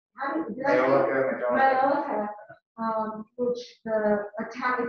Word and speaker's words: Majolica: And also, it also relates to Majolica, which I really, or how do you say it? Yeah, no, that's it. Majolica.